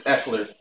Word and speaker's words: Eckler: okay but it's it's not max it's its Eckler so it's spelled e ck l er Eckler and I